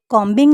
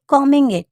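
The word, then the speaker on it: combing: before कमिंग अच्छा दोस्तों यहां पर इसे कॉंबिंग नहीं करेंगे क्योंकि बे साइलेंट है तो हम कहेंगे कमिंग मां पूरा दिन काम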